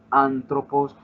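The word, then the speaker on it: ἄνθρωπος: Colocamos la palabra antropos. Entonces, si la voy a dividir en sílabas, sería antropos. El acento en esta palabra ya lo conocemos porque conocemos en el vocabulario la palabra. El acento principal es este.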